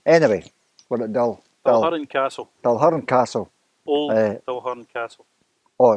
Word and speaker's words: Dalquharran: If I can't pronounce it, Ian. I think it's Dalquharran. Dalquharran.